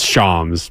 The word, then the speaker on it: Shams: just pronounced that correctly yeah it's Shams by the way is it really yeah